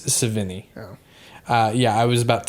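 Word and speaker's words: Sevigny: played by chloe savini that's how you pronounce her name i literally said seven year old i thought it was that too but it's savini uh yeah i was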